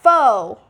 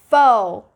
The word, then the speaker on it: faux: Moving on, we got faux. Faux. This is F-A-U-X, so you're not going to be pronouncing it as faux or with that A-U diphthong. No, it's just faux. Faux. Don't pronounce it as fox.